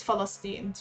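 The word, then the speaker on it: فلسطين: their own name no in arabic it's philistines with an f i'm back my nose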